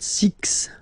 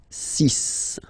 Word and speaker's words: six: be careful here because even if it's ending with this x well you'll have to pronounce it like s okay so you get the sis pronunciation sis okay so it's not six it's sis all right then here